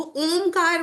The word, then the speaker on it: ओम: बोलते हैं, पर ऐसे अक्षर नहीं होते, वो ओमकार में ही होती है। ओम ऐसे उच्चारण होता है उसका।